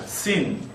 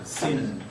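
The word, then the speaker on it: שׂין: sin. 왼쪽에 점이 있다는 걸 기억하시고 아까 사맥하고 같은 발음이라고 생각하시면 되겠습니다. 시옷 발음이죠. sin.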